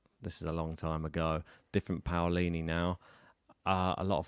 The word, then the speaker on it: Paolini: is the name hi my name is Jasmine Pini Jasmine Pini there you go bini I mean we're saying